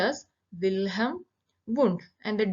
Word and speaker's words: Wilhelm Wundt: behavior and mental process father of psychology is wilhelm wundt here the second l is silent it is pronounced as wilhem bund and the d is silent so bilham wound so he is considered as the father of